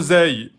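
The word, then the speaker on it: زاي: La lettre zeille est une lettre qui n'est pas en fatigue, elle est amincie. Donc, on va prononcer Z.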